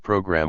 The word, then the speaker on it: program: Some little boys in livery were wandering about on the various floors crying out program with the accent on the first syllable, and as I wanted